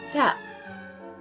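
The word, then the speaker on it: ثاء: Then we have the letter tha. Tha, as in theater, tha. So pronounce it like this, th, th.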